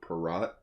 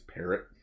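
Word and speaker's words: Parrott: and ryan parrot or peratt i've always pronounced as perat but apparently it's parrot uh we're joking around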